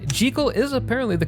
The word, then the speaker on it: Jekyll: And yes, even for how weird it feels to say, Jal is apparently the correct pronunciation according to the original author. Although, since the Jekal pronunciation was popularized by the 1931 film adaptation,